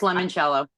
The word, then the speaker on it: limoncello: and we have gourmet, I say limoncello, but it's spelled limoncello. I have no idea how to say it, but we're going to go with limoncello because it's You're saying it right. It's limoncello. Even though it's spelled with an I? Yeah, it's limoncello.